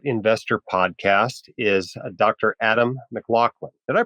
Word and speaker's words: Maclauchlan: the white coat investor podcast is Dr Adam McLaughlin did I pronounce that right Adam yes sir you did